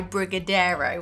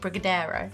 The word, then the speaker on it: Brigadeiro: Anyway, when I was in Brazil, we got to try Brigadeiro, which I think is how you pronounce it, Brigadeiro.